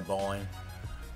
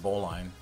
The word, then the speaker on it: bowline: You can't call yourself a sailor if you don't know how to tie a bowline. If you really want to sound salty, pronounce it bowlin, like Jeremy Lin, instead of bowline.